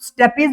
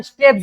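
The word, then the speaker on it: stapes: और एक को बोलते हैं हम लोग स्टेपीज बोलो या फिर स्टेप्स बोलो। अब जैसा प्रोनाउंस कर पाओ उसको कर लेना। तुमको जैसा सूटेबल लगे। दोनों सही है।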